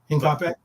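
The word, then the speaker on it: Hincapié: How do you pronounce Hincape? Hincape.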